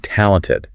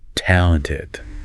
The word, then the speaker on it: talented: Artistry can't you totally so let's practice saying talented really emphasizing that first syllable talented talented she is a